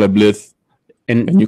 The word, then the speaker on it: Blythe: Well, what if the C is silent in California? You call So it it's Blythe. California. I call it Blith. And you call it Lithe. Blythe. What? California. The Blythe?